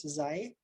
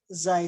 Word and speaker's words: xi: So for n equals 0, we're going to write them in terms of this variable we're going to call xi, pronounced, I think, like this, xi.